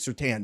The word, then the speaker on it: Surtain: And then also, Broncos cornerback Patrick Surtain is out for weeks, and we just made a face, DK.